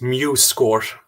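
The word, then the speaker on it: MuseScore: say the name of this software again or spell it if possible um this one that i'm showing now yes yes uh that's mu score so m-u-s-e s-c-o-r-e thank you very much so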